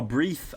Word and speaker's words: breathe: else here gubacoum breath the verb is pronounced more like brief oh breathe oh thank you man